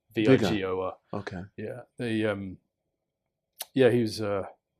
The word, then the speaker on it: Weigel: You'd say in America, Vigor. Vigor.